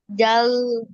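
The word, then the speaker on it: ذال: তো জাল জাল জাতে টান হবে।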